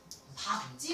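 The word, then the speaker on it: 밟지: 갈지 아니라 밥지 마시오. 이래야 돼요.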